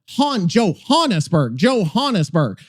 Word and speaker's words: Johannesburg: Joe rhymes with go. Okay, Johannesburg, or something like Joburg, like Joburg, Johannesburg.